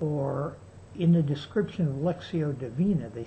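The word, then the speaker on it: lectio divina: doing for the last couple years something called lexio deina it's spelled l e c t i o d i v i n a it's Latin lexio deina it means divine prayer or Divine reading excuse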